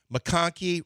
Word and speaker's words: McConkey: I mean, McConkey, which rhymes with honky, and Pearsall.